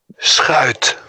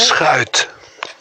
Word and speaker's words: Schuit: Schuit. That's how you pronounce his last name. How do you say it? Schuit. Sheet. That's what I said. See, I can't. I can listen to him say it, and I still can't say it. It's Schuit.